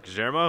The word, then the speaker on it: Guillermo: now all right gujaramo gajermo am i saying right you got it right yes that's the argentine pronunciation of guillermo okay so born born